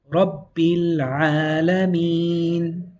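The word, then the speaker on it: ربِّ العالمين: You're going to go straight from the B to the Lam. Bil. Now in recitation you hear Rabbil Alameen.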